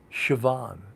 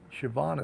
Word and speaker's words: Siobhan: know uh neve uh siobhan siobhan is spelled like s-i-o-b-h-a-n who would know that the pronunciation is siobhan right not me you